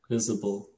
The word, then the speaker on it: YSBL: YSBL, sorry, it's YSBL pronounced there, from 2020. Yeah. Visible. Yeah.